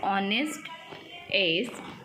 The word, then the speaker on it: honest: Now the word honest has H silent.